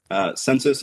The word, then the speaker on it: Censys: Censys is the census of the internet. So census spelled with a Y.